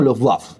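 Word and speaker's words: Luftwaffe: Bueno, yo supongo que debe ser como Luff Waff. Luff waff. Waff, waff. Waff, como un ladrido.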